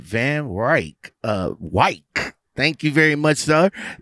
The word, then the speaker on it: Van Wyk: about 200 trucks all right van wyk uh white thank you very much sir is there a